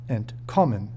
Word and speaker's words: entkommen: It is important to know that, when pronouncing inseparable prefix verbs, the root of the verb, and not the prefix, will be stressed, entkommen.